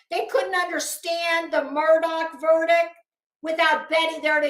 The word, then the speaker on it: Murdoch: where I'm coming from you kept calling him Murdock it's Murdoch and I don't care if you heard other people pronouncing it Murdoch he told you it's Murdoch but that's just a